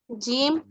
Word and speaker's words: جیم: جیم. It is pronounced when the middle part of your tongue touches the upper palate.